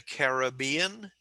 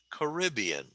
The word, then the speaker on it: Caribbean: So the sea that Cuba is in, some people call that the Caribbean, and some people call it Caribbean.